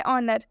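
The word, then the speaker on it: honour: एच के बाद से कभी भी अगर ओ आता है तो हम उस एच का उच्चारण नहीं करेंगे, इसे हम पढ़ेंगे ऑनर, जिसे हम हिंदी में कहते हैं सम्मान।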